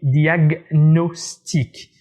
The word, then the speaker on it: diagnostic: prononce l'île de leyte recipe harriman chacune se prononcent normalement on dit diagnostic est aussi le moule commission là on les